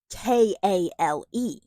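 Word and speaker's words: Chaol: And yet it's pronounced K A L E.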